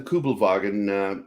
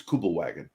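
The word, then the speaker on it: Kübelwagen: here in America um I put the extra effort to pronounce the W with the V sound where most Americans wouldn't even bother it's kubel wagon is what they call it here the thing when it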